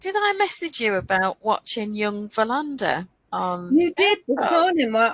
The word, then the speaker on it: Wallander: Yeah, because Young, they call him Wallander in the series, which I don't like because it should be Verlander.